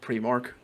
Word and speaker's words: Primark: Primark or Primark? Primark. Like primary That's all right.